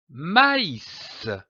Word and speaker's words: maïs: cet accent très m'as indique que la voyelle qui précède doit être prononcée séparément comme par exemple du maïs maïs je lis un mot